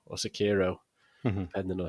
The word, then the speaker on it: Sekiro: It's called Sekiro or Sekiro, depending on how you pronounce it.